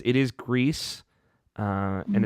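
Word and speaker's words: Gris: grease it's it is grease and it's going with a Spanish pronunciation because the developers there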